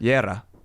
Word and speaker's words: Guerra: How do you pronounce it? Guerra. Yeah, I can't do that. Or That's else pretty I'm- cool. Yeah. Guerra. You say it. Guerra.